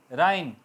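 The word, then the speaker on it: reign: इस तरह डिज़ाइन G silent. राइन अहद, दौरे हुकूमत, ठीक है।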